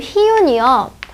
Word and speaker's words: 희윤: 그러니까 선생님의 이름 희윤이요. 어떤 사람이 너무 어렵다고 얘기해요. 이거를 흐이 이렇게 발음하려면 당연히 어렵죠. 얘를 희망할 때처럼 이로만 발음해야 돼요. 희윤 이렇게.